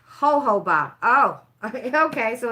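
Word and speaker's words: jojoba: It's pronounced ho-ho-ba. Oh, okay, so it's not jojo-ba?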